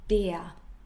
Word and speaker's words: der: Pronunciation der.